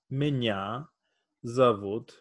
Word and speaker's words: Меня зовут: Minya zavut.